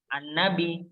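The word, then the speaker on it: النبي: Lalu kita mau mengulang dari an-nabi. Nah, itu harus dibaca alif lamnya. An-nabi, bacanya an. Jadi huruf atau kata-kata yang diawali dengan alif dan lam, itu alifnya pasti dibacanya a.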